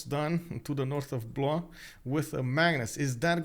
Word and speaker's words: Blois: Blois sounds like Blois. You pronounced it correctly. Oh, okay, Blois. Okay, sorry. Yeah, like the S, the final S over there did excuse me. And I was like, should I pronounce it? Should I not pronounce it?